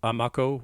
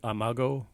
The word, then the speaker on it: Amako: to point out that I'm actually going with Amako with a K pronunciation rather than Amago with a G, which is actually what a lot of sources seem to go with. But I'm going with the K for the simple reason that a direct descendant of the clan I met pronounced it Amako with a K and couldn't figure out where the G came from.